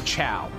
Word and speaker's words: Chao: Why is it pronounced chow? It's kind of, because like, the chow are, the chow are silly little dudes. They're little guys, and I love them to death. Because it's spelled C-H-A-O.